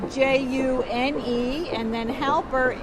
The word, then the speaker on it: Halper: We're talking today to June Halper, and that is spelled June, and then Halper, Halper.